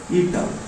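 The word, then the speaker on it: eta: Modulus of rigidity को denote करते हैं ईटा से, ईटा, ये वाला, इसको क्या प्रोनाउंसिएशन होगा इसका, ईटा। ये ग्रीक वर्ड, इसको क्या पढ़ेंगे, ईटा।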